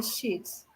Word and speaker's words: sheets: not shit, but sheets.